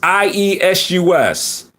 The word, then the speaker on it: Iesus: Jesus spelled as Iesus, I-E-S-U-S. Iesus. Now, if you you notice the pronunciation, it sounds like feces.